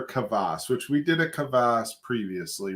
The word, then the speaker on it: kvass: which we did a kvass previously, right? I'm pretty sure it is a kvass. Did I say kvass? It's kvass. Kvass. It's not two syllables, it's one syllable.